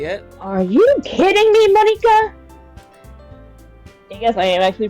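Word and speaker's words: Monika: A lot of the west side, we pronounce it as Monica because that's how we see it. But in actual Japan, it's pronounced Monica because it's pronounced like squid.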